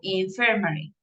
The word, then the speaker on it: infirmary: Okay, so the stress is in second syllable, infirmary. All right, that is good.